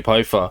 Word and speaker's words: Poafa: I remember I was talking to somebody and they called you Poafa. I was like, oh, is that how you pronounce it?